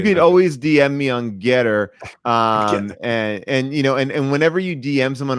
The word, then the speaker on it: Gettr: I don't know how to pronounce it. It's Gettr. I assume that's Getter.